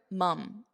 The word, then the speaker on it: mum: But here, mum, It's more of an unstressed mum.